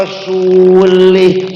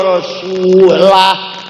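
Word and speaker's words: ورسوله: Ada orang baca Quran salah. Fa annallaha bari'um minal musyrikin wa rasulih. Salah. Allah tidak melindungi orang musyrik dan tidak melindungi Rasulullah. Salah. Bacanya salah. Yang benar, wa annallaha bari'um minal musyrikin wa rasulah. Allah tidak melindungi orang musyrik dan Rasulullah pun juga tidak melindungi orang musyrik. Paham tidak? Itu bedanya baca warasulah dan warasulih.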